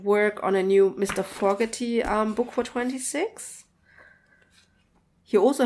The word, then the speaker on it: Fogerty: Fogerty. The longest time I said his name wrong. I said Fogerty, but it's Fogerty.